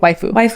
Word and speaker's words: waifu: you i don't mind is it way for you wait waifu waifu okay what does it mean it sounds like wifey um it is like a wifey like i am like somebody's waifu like i'm somebody's wife